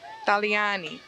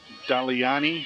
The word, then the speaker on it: Daliani: Daliani. Daliani. Now with a T-H, it's a D.